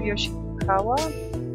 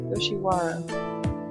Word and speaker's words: Yoshiwara: The rules of Yoshikawa? Yoshiwara. I keep combining syllables.